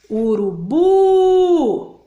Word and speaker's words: urubu: Vou chamar a palavra urubu. Então, que sílaba que ficou longa aí? O bu. Então, é a última sílaba da palavrinha.